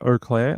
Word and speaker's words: Eau Claire: Penguin says it's pronounced Eau Claire, like O.